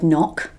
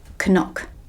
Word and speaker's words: knock: it you knew that you knew how to read the word knock you knew that that didn't say Kanak yeah so that's what we call a silent letter we'll talk about the